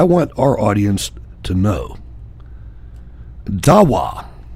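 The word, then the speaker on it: دعوة: Dawa, and it could be pronounced dahwaha, is an Arabic word which means to invite or summon someone.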